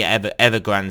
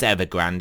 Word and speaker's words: Evergrande: And also I did notice regarding the Evergrande situation, it is Evergrande, it's not Evergrande. I don't know why people it's mainly Americans that can't pronounce anything, but yeah, it's Evergrande.